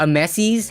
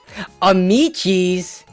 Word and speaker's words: Amici's: Domino's hater for life Amici's okay Amici's hopefully I don't forget that this totally does not look like it would be pronounced that way Amici's Pizza okay how